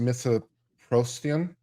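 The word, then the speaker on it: mifepristone: talking about this drug which I think is pronounced mythoprostian um is also known as ru-486 was initially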